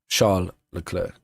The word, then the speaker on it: Charles Leclerc: Charles Leclerc. It's like, why would you pronounce it wrong if you know how to pronounce it right, you know?